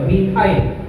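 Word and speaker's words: methyl: আমার মিথেনে হাইড্রোজেন থাকা দরকার হলো 4টা, কিন্তু যদি মিথেন এখানে হয় যদি 3টা, তাহলে তার উচ্চারণ আর মিথেন এন হবে না, শেষে এন হবে না, শেষে আইল উচ্চারণ করতে হবে, মিথাইল।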